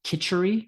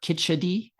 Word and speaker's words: khichdi: Um and and kind of the the king of all mono diets would be a food called kitchari or khichdi. Um it's pronounced both ways and it's kind of the the macaroni and cheese of India.